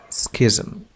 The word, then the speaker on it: schism: Schism هو الشقاق، وتنطق كذلك بسيزم. لم أكن أعرف بأنها تنطق كذلك بسيزم إلا بعد أن استشرت قاموس كامبريدج، والذي يعرف كذلك هذه الكلمة